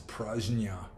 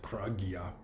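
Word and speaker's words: prajñā: got the what um i used to pronounce prajna but then uh i was talking to a professor who who taught sanskrit who uh he said it's prague of course you could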